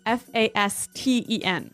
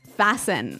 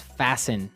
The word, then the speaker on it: fasten: interesting yes it's spelled f a s t n right so it would be Fast N no no right fasten fasten the T kind of becomes silent so it's fasten yep okay let's look